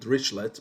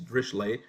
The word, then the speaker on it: Dirichlet: drischleigh conditions or so you might call it richlet but the actual pronunciation is drishlay so if the function